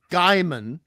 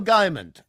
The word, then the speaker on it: Gaiman: And the proper Fantastic Four is not something that Neil Gaiman, that's the proper pronunciation, not Gaiman, Gaiman.